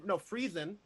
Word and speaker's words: Friesen: He is a Friesen. Am I saying it right again? Friesen Press.